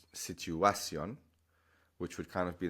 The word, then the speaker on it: situación: So, in English, situation, the natural stress is on that A. Situation. But in Spanish, they're basically telling you not to do the natural thing.